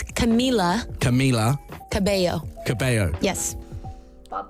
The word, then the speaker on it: Camila: read the second one camilla cabello ha no you said it wrong camila or camilla oh maybe it's wrong i don't know maybe i said that wrong so it's camila camila cabello cabello yes